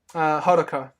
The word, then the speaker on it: Hodaka: How do you pronounce his name? The main character. Hodaka.